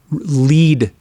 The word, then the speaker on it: Led: no make that Zeppelin the LED spelling was supposedly a session to American pronunciation here Led Zeppelin Lea Zeppelin would always have been lead Zeppelin this time out the